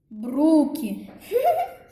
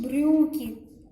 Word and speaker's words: брюки: Бруки. Нет, правильно говорить брюки.